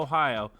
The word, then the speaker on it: Ohio: Is there some interesting pronunciation here? Hold on. No. No, it's it's Noah Ohio.